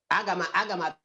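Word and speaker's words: Agha: Aga. Nena. Is it A-G-A-H? That's how you spell it.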